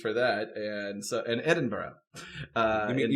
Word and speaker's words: Edinburgh: Moscow, Cornwall, and Edenburgg all had simultaneous big mean Edenberg.